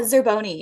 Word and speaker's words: Zerboni: Uh, Zeroni.